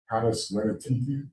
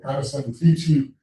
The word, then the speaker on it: Canis Venatici: the Big Dipper called Canis Venatici. I pronounce Latin like it's Italian because years of singing in a chorus in America, we use Italianate Latin. If I were English, I might say Canis Venatici or something like that,